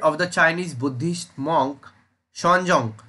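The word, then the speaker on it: Xuanzang: the chinese buddhist monk sean jung so this is you know pronounced as shonjong was actually the option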